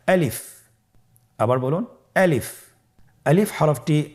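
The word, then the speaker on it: ألف: বলতে হবে বলুন আলিফ আলিফে কিন্তু কোন টান নেই আপনারা বুঝতে পারতেছেন আমি যখন আলিফ বলছি এর মধ্যে কোন টান হবে না আলিফ আবার বলুন আলিফ আলিফ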